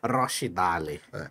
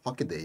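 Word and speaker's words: Rochdale: Eu acho bonito falar Rochidale. Você sabe que Rochidale, o nome deveria ser, a pronúncia deveria ser Rockdale.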